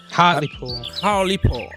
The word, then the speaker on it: Hartlepool: How it's pronounced? Hartlepool.